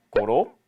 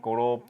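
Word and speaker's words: гурав: 넥, 허열, 고롭, 두룹, 타옵. 네, 1부터 5까지 발음을 닉, 허열, 고롭, 두룹, 타옵 이렇게 얘기를 합니다.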